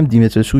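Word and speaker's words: Dimitrescu: و توی این دمو قرار بریم یه سر بزنیم به کاخ دیمیتریسکو، که البته تلفظ اسم دیمیتریسکو ظاهرا یه چیز دیگه است، تلفظ رومانیش همینه که من میگم، دیمیتریسکو یا دومیتریسکوس.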